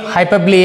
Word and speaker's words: hyperbole: Hyperbole ಅಂತ. How do you pronounce it?